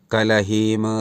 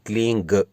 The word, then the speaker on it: क्लीं: ध्वनि कर रही है, यानी ना क्लीम और ना ही क्लींग, केवल क्लीं क्लीं इस प्रकार का उच्चारण करेंगे तब यह क्रिया, ये प्रोसेस, ये प्रक्रिया लाभदायक होगी।